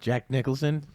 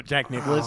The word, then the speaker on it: Jack Nicholson: name is it's not I always get that name wrong Jack Nicholson I always go Jack Nicholas I think I know